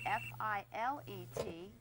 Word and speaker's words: filet: If you're speaking about meat cookery, the first word, F-I-L-E-T, it's pronounced filet.